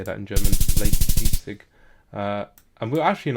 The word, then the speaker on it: Leipzig: Leipzig.